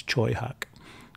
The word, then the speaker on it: Tsui Hark: this guy Troy Hawk that's how you pronounce his name it looks like Tsui Hark but it's Choi hawk great great Hong Kong